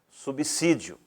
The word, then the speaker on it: subsídio: Vou pronunciá-la de forma correta. Subsídio.